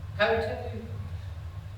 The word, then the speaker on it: Coutu: I pronounce her name wrong every time. Coutu?